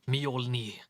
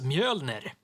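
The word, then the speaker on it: Mjölnir: not thor it's his hammer isn't named mjolnir it's mjolnir this guy here is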